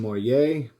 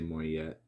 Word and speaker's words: Moyet: Next up is Alison Moyer, and that is how you say that. Most people say Moyet. It is Moyer.